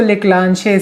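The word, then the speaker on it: Leclanché: अब इसको तुम कैसे प्रोनाउंस करते हो ये तुम्हारे ऊपर है। मैं इसको लेक्लांशे सेल बोलता हूँ, अब बाकी तुम्हारी मर्जी।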